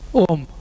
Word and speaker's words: Om: and Makara which make Om. Okay, so there are three sounds there. Akara, Ukara, Makara, which becomes Om.